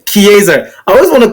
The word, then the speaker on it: Chiesa: Chiesa. I always want to call him Shizera, but I know that's not his name. It's Chiesa.